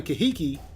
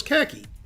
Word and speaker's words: Kahiki: I never noticed the second I in Kahiki and always thought it was khaki. But as usual, I was wrong.